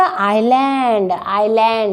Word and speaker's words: island: Like that, she is thinking to touch the island, I-S-L-A-N-D. S is silent here, island.